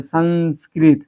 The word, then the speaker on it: संस्कृत: उच्चारण दे रहा है, जैसे संस्कृत, संस्कृत, देखो नो आ रहा है, क्या है, शुरू में है तो क्या आएगा, नो आ गया। लेकिन यही देखो लास्ट में संस्कृतम, संस्कृतम, संस्कृतम, तम यहाँ पर लगेगा